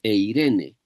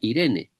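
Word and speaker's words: εἰρήνη: griego es bien interesante, porque la palabra paz en el griego se dice eirene. Si fuera la pronunciación moderna no se leería eirene, sino que se leería Irene. Irene.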